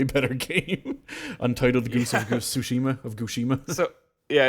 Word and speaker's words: Tsushima: Best Art Direction was Ghost of Tsushima, which, funny enough, has been mispronounced in the Game Awards so much. It was Ghost of Tsushima. Oh my God. Ghost of Yushima.